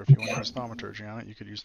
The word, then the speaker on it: thaumaturgy: Can I use how do you say the thaumaturgy?